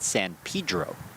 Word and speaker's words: San Pedro: San Pedro, California, though he pronounces it San Pedro.